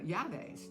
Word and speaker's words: llaves: my llantas, were in llaves. Llantas is something else. Llantas are your tires. Your llaves, which is double L. Notice that you pronounce that with a Y.